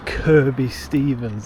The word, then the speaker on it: Kirkby Stephen: Heading to Kirby Stevens. They don't pronounce the middle K apparently.